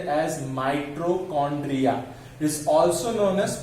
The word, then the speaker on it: mitochondria: Okay, माइटोकॉन्ड्रिया, it's pronunciated as mitochondria.